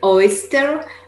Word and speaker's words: oyster: Elena is pointing her mouth forward. Instead of saying oyster, she says oyster.